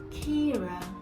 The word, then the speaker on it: Keira: Kira. Okay, E-I, low E sound, Kira.